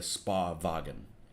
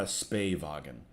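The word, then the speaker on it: Spähwagen: Because it just sounds better for it to be a Spa-Wagen, not a Spay-Wagen. Spay-Wagen just sounds weird.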